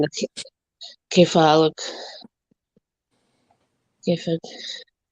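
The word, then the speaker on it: كيف حالك: They like I think the real pronunciation is K for Halak, but I think when they're just saying it, those that actually speak the language, the slang is Kafik.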